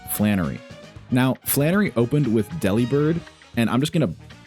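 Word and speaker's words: Delibird: So, Deli Bird is pronounced Deli Bird. Like in a lot of the Pokemon like manuals and stuff and like the like the physical Pokédexes you can buy, it spells it out Deli Bird.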